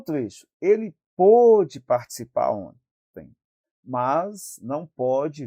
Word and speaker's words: pôde: Ele pôde, escreve do mesmo jeito, logo, a gente pronuncia de uma forma diferente, coloca o acento circunflexo